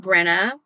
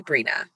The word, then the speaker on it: Brina: can relate um so about my name brina long e sound e says its name brina some people have said brenna um it's actually brina brina my household